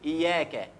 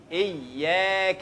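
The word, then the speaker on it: إياك: الدين اياك ركز اياك فيها خطا شائع ان احنا ممكن ما نشدت الياء نقول اياك اياك من غير تشديد الياء معناها ضوء الشمس انما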